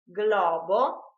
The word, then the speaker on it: globo: pronounced Y in fact if g l are followed by the vowels a e o and u they are pronounced separately GL GL like for example in the word GLE for instance Gloria glutin globo are pronounced just as the English words Glory gluten and Globe instead if the letters